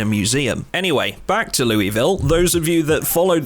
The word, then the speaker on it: Louisville: yet and that's Louisville yes I pronounce it Louisville I always get at least one comment telling me I'm uncultured swine when I pronounce it like this and my answer to that